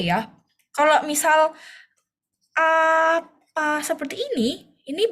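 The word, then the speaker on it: 아빠: Apa? Bukan aba, tapi apa? Oke. Apa? Tapi bukan juga ee bukan pakai P ya, Teman-teman ya.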